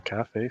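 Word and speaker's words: café: Oh, got the accent on the E as well. Yeah, it's not a calf. It's not a bird calf. It's a bird cafe.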